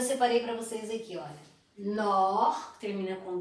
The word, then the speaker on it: nord: Nord, que termina com D, pied, froid, chaud. Então essas palavras, ou todas as palavras que terminam com D, não se pronuncia o D.